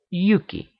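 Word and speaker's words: Hjúki: names indicate as much huki in North would be pronounced Yuki which would readily become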